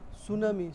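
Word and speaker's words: tsunami: হবে না সাইকো তারপরে সুনামি সুনামি আছে না সুনামি এই সুনামি টিটা মাহজুফ উচ্চারণ থাকে না সুনামি কথা বুঝছেন নি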